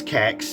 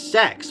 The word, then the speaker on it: CeX: like, a CEX store, which I pronounce Kex, because, like, why is it, like, it pronounces as sex, which usually you think is, like the words, like, S-E-X instead of C-E-X, you know what I mean?